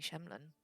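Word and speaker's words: shemlen: That way you don't depend on any Shemlin.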